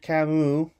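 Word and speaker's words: Camus: deep read this is about this is Albert kamu from my father there who corrected my pronunciation the myth of Copus is about taking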